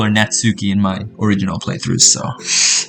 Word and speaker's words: Natsuki: And before you guys comment, oh, it's not Natsuki, it's Natsuki. Search it up. It's Natsuki. Alright? That's how you pronounce it.